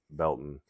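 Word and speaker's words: Baileyton: where we live is a town that is spelled Bailey. B A I L E Y T O N. But the local calls it the locals call it Belton.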